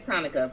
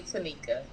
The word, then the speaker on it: Tanika: to repeat stuff over Monica with a t so I get why everybody says Tanica but it's really Tanika oh girl well y'all